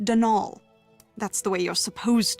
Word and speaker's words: Donal: the caretaker dnal Delaney not Donald mind you there's no D at the end so it's pronounced dnal that's the way you're